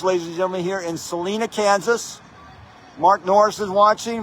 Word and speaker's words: Salina: The locals pronounce it Salina. Salina, okay, yeah, Salina.